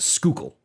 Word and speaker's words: Schuylkill: josh you don't pronounce the h it is just schuylkill no sk you said